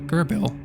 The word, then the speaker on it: Gerbel: familiar people oh uh it's pronounced uh gerbel gotcha thank you uh